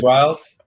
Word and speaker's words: Biles: Simone Biles.